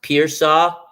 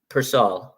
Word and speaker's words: Pearsall: His name is pronounced Pearsall. No, it's Persall, but okay, my boy.